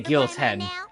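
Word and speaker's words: Guillaume: that like they didn't just say Guilo 10. They say Gilen. You bet. You barely pronounce the L's.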